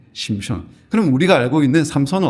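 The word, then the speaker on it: שמשון: 있는이 삼손은 히브리어일까요 아닙니다 히브리어는 따라해볼까요 심효 심입니다 심촌 예 심촌 그럼 우리가 알고 있는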